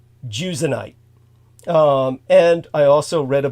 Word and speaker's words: Jusionyte: So I believe it's pronounced Jusionite.